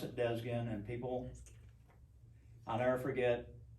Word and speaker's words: Desguin: one side of the family and we do pronounce it desgen and people i'll never forget i had a